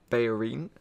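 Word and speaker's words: Bellerín: We'll have a quick look on Foothead on Bellerin, as he's pronounced.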